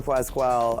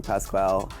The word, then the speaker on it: Pascal: Like Han Zimmer, Pedro Pasqual. I'm pronouncing it wrong. Pascal.